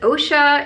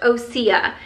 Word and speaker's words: Osea: didn't actually know this I had to look it up because I didn't know how to pronounce the name so this is what the actual brand name looks like so I was like is it OSHA is it osea it's pronounced osia and it stands for